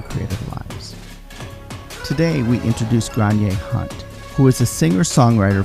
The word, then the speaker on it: Gráinne: if you were from the northwest of Ireland, you would say Gráinne. And I would say Gráinne. Gráinne.